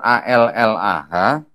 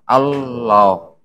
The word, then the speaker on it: Allah: Di bahasa Arab, kalau ada tulisan ALLAH, karena ada tasdidnya, makanya bacanya apa? Allah, bukan Allah gitu ya.